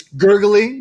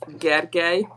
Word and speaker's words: Gergely: Dami dot, and it's gurgly. Did we say that right? It's Hungarian, so it's pronounced Gergely. It's almost like a silent L at the end.